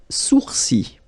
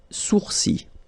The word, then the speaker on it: sourcils: Les sourcils. Les sourcils. Okay, so it's quite strange because you get this LS at the end, but then, well, you don't pronounce them. Les sourcils.